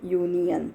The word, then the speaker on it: union: Okay, a union, it is starting with U but sounds like union.